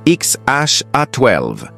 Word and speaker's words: X Æ A-12: Musk et Grimes sa compagne de l'époque ont expliqué, on le prononce XHA12, un mélange de technologie, de poésie futuriste et d'aviation militaire.